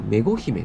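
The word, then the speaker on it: 愛姫: 子の奥さん愛と書いてメゴと読むはずですがメゴ姫ねめ姫は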